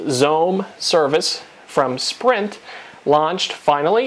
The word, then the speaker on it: XOHM: pretty big day as the xohm pronounced Zone service from Sprint launched